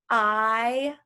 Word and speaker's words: isosceles: Another name for a triangle based on its sides is an isosceles. Please say that with me. Isosceles. Okay, multiple syllables.